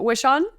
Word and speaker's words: Wishon: say your last name you nailed it wish on okay I was like it's either like a make a wish on a star or it's wish on I wasn't sure we